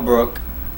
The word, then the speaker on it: Brook: asked him about kell brook who by the way he's intentionally saying his name wrong kell brock he's calling kell brock he's not kel brock the only block there